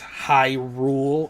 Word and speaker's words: Hyrule: Like, I know it's Hyrule, and the people that live in Hyrule are Hylian.